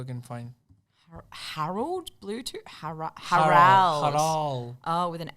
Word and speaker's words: Harald: Harold Bluetooth. Harold Bluetooth. Harold Bluetooth. Let's see what I can find. Harold Bluetooth? Harald.